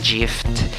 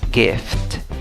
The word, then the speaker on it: gift: Solo tienes una sílaba, asegúrate de pronunciar la F y la T al final.